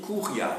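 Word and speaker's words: curia: Et au sein de cette courte, le mot cours se dit couria. C U R I A.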